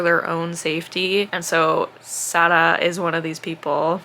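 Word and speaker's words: Sara: confusing my brain because it's spelled s a r a but the way the audiobook says it I think it's s and I'm probably saying that wrong because my brain tries to say it like the French way of saying but it's not French. I believe the author is Moroccan. Sada is how the audiobook narrator says it.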